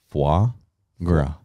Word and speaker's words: foie gras: How do you actually pronounce it? Foie Gras.